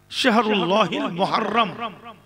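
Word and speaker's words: মহররম: মেহেনা আল্লাহ মানে আল্লাহর মহাররম আমরা বলি মহরম মহরম নয় উচ্চারণ হলো মহাররম আমি আপনাদেরকে জ্ঞান দিতে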